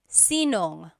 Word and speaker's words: sinong: If you have sino ang in a question, you might hear sinong. So they put it together. So sinong kumakanta? Who is singing? Sinong kumakanta? Instead of sino ang kumakanta, it's sinong kumakanta.